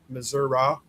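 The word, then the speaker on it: Missouri: the ones that started Missoura? Missoura? Missoura. Missoura? That's how we pronounced it when I lived in Joplin, too.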